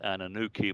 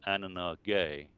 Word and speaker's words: Anunnaki: But O'Brien did the thorough job working from the beginning, and realized that it should be pronounced not Anunnaki, but Anunnaki.